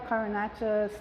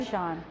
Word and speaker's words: cabochon: The carbonate, the glass. I know you use those too. Yeah. I can't pronounce it correctly. Cabochon.